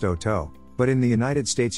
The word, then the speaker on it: Hotot: the breed was developed hot it is correctly pronounced oh toe but in the united states you may hear it pronounced hote the blonde to haunted rabbit is recognized by